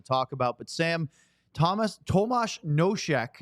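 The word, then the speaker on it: Tomas Nosek: about but Sam Thomas Tomas noek is how you pronounce his name he's been of course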